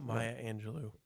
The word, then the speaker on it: Maya Angelou: So this was for a quote from Maya Maya Angelo I believe is how you pronounce her name. I looked it up. Maya Angelou.